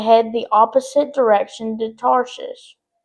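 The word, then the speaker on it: Tarshish: That word gets me every time. I cannot say it right. is tarsish, which is spelled t a r s i s h, just if you were wondering. It's a tricky word, so please forgive me.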